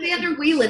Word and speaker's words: Vander Wielen: Is that how you pronounce it? That's right. That's perfect. Vander Wielen is here to talk with us all about